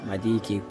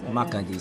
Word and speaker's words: Makadi: So yeah, so we basically back in Madiki, which we stayed in our previous hotel in Madiki. So now we my pronunciation is Makadi. it's hard to say. Makadi.